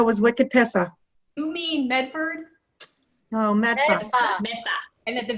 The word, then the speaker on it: Medford: the boston accent or how we pronounce some of our cities and towns one of my favorites to say is medfa other than that i thought the video was wicked pissa you mean medford no matter and that